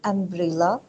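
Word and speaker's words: umbrella: पे एम्ब्रेला जो है, जब हम एम्ब्रेला को प्रोनाउंस करते हैं तो जो उसको यू की साउंड है ना, एम्ब्रेला, तो सबसे जो पहली साउंड आती है वो एम्ब्रेला के साथ हमें आ साउंड आती है।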